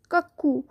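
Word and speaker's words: cuckoo: কাক্কু bird, কাক্কু, CUCKO। যেহেতু দুটো ও আছে তাই একটু উ করে আমরা একটু টানবো, কাক্কু।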